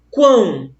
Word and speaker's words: quão: Possui uma só sílaba, eu pronuncio de uma só vez, ó, quão, já foi.